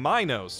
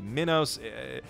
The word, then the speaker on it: Minos: of the evil tyrant King Minos, or possibly Minos. They pronounce it literally every possible way in this dub, and that's a running theme with these movies.